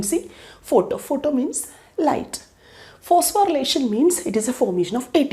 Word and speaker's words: phosphorylation: known side click photo now look at the spelling photo phospho Ry relation I have written but actually when we pronounce no we will pronounce it as relation only okay phosphorylation so now we are